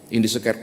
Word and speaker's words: Indische Kerk: Bapak Ibu pasti pernah mendengar Indische Kerk, gitu ya cara pengucapannya bahasa Belanda soalnya, Indische Kerk.